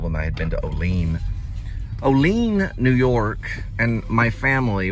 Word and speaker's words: Olean: I go, "I'm going to Olean." He goes, "No, you mean Olean." I said, Olean, New York.